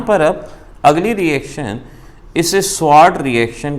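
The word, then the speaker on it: Swarts: यहाँ पर अब अगली रिएक्शन, इसे स्वार्ट रिएक्शन के नाम से पहचानते हैं। एक ज़माना था एस को साइलेंट कर देते थे, वार्ट रिएक्शन बोलते थे, इसको स्वार्ट रिएक्शन कहा जाता है।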